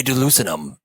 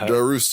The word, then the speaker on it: Darussalam: Brunei Darussalam. You didn't even say it right. Darussalam.